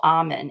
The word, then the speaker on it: Amen: work of Dr Daniel Amen a spelled like amen y'all who are listening a m n is amazing in helping